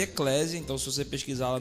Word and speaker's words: Eclesia: A pronúncia se escreve Eclésia, então se você pesquisar lá no Spotify e no Deezer, com 2 Cs.